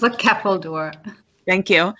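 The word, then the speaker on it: Ceffyl Dŵr: Can you pronounce that word for me, please? It's a Keppeldoor.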